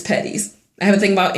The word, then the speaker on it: Petties: um but but still no no it's just patties it's patties I have a thing about English and pronounce my last name would be it would